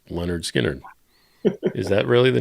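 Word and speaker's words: Lynyrd Skynyrd: And then Mark, different Mark says, "Leonard Skinnard second helping, not Leonard Skannard."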